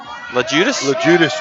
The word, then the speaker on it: Lajudis: Lajudis, that's how you say it.